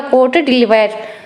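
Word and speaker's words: Côte d'Ivoire: इसको प्रोनाउंस किया जाएगा कोट डिलीवायर।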